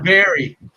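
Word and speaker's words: Barrie: It's in the Bar. chat, man. B-A-R-R-E. Bar. Is it bar? Barry, I would say Barry. Barry? Barry. That is Barry.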